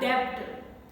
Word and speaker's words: debt: In BT combination words also, B is silent and only T sound is pronounced. Death, not debt.